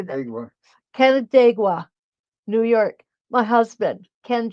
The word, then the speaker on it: Canandaigua: Canandaigua, New York.